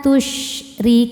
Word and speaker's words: tusyrikun: Ma tusyrikun, ri. Huruf ra dibaca secara tarqiq karena ra berharokat kasrah. Cara baca huruf ra-nya ini adalah dibaca dengan tipis, ri.